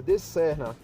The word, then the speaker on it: Srna: É assim mesmo, galera, a pronúncia, De Serna.